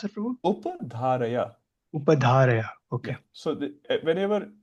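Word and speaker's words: upadhāraya: How do you pronounce it, Prabhu? Upadharaya.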